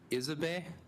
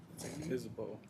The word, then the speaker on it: Isabeau: Isabe, is that correct? Was I even close or no? No, my apologies. Come on up the front. Isabeau. Isabeau, okay.